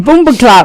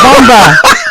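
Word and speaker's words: bumbaclot: And then I said Boomba Clot wrong. It's Bomba. I'm saying it wrong again.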